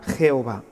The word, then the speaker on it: Jehová: desde la cultura alemana poco a poco él viajaba con la y se fue transformando en una jota y de ahí tenemos ahora la palabra jehová esta palabra representa lo mismo que para nosotros ya ve es exactamente el mismo tetra grama nada más que es una pronunciación diferente ya que cuando se